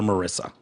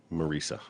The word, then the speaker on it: Marisa: Marisa, do not call her Marissa. Marisa.